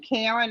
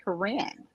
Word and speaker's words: Corinne: my characters you know some people say are you saying Karen I said no I said Corinne and and that's what